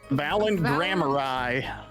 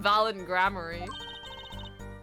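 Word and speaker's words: Valant Gramarye: you know him no knows how to pronounce his name valent grar valent grar oh my God he became a country singer what I've been calling him valid grammar you mean Uncle valent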